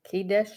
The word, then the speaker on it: Kadesh: Kad kades kades K Kadesh Kadesh whatever Kadesh Kadesh capish capish that's what it rhymes with well it kind of Rhymes then the children of